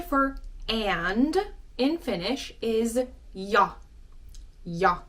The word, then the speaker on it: ja: So the J in Finnish is pronounced y, as in the letter is called yi, and you pronounce it y.